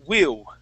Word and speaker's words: will: Remember, when we pronounce that L, you're going to curve your tongue, and this is the top of your mouth.